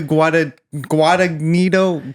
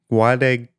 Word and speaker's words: Guadagnino: Luca Guadagnino. The second G is silent. Guadagnino.